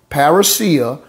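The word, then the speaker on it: parrhesia: is the greek feminine noun perisa or perisia parasia which is spelled p a r r h e s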